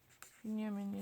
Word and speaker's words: Binyamin: Binyamin is basically Benjamin. And then Netanyahu. I know that much. Don't lie.